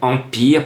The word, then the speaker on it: Empire: avec ce 9 empire je prononce à la française et non pas en paille heures je préfère dire en pire parce que le rappel